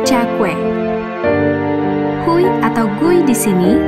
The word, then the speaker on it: Cakwe: Kalimat "dijual hui goreng" diucapkan dengan bahasa setempat, Yu Za Gui, yang pelafalannya You Cakwe.